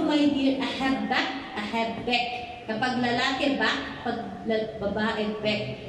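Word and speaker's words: אהב: ahb lang Okay sa sa Hebrew word ahb lang ang pronounce is a have Actually yung a a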